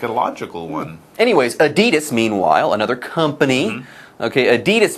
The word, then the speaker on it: Adidas: H&M and now Adidas. Or and Adidas, as they pronounce it in Europe. Adidas. Adidas. All day I dream about sports. That's apparently the correct pronunciation, Adidas. But yes, in North America, it's Adidas.